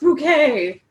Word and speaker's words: Bouquet: It's pronounced bouquet," Hyacinth called after the desperately fleeing postman.